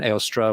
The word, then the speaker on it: Eostre: It seems that it's Eostre. Yeah, at least as in it's the same vowel that we get in Beowulf or Theoden in Lord of the Rings. So you have Eostre, could have been Eostra with a schwa at the end.